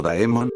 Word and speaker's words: daemon: folklore un demonio o daemon Demon que se pronuncia Demon cuando nos preguntamos Qué